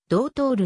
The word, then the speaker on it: Doutor: ことに由来するなおポルトガル語の発音ではどう通るに近い 2012 年現在商業